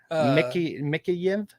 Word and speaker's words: Mikheyev: I can't pronounce this guy's name. So Mikheyev.